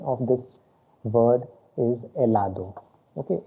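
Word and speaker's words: helado: of this word is elado okay in spanish letter h exists but it is always silent i mean it is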